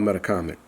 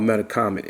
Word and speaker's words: Metacomet: You know how to pronounce that name? You know the C is a H. Yeah. The C is a H. The E is a U.